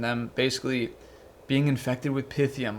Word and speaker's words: Pythium: a part of the pythium Saga and I'm calling it pythium now cuz it's the proper pronunciation I I guess I was calling it pythium so there's been this